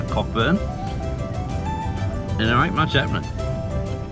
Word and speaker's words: Cockburn: We're only about 70ks off the border from a little place called Cockburn. I pronounce Coburn, but where's the maturity in saying it that way?